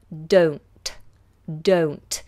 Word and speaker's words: don't: of the vowel sound the vowel sound is a diphthong that means it's two vowel sounds moving together oh oh don't don't